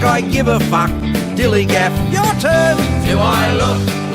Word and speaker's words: Dilligaf: That's spelled D-I-L-L-I-G-A-F, Dilligaff, and this is what it means.